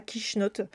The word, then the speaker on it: quichenotte: sa dame est donc le kiss me not est devenu en arrivant en france prononcer avec l'accent franchouillard est devenue la quichenotte qui est toujours utilisé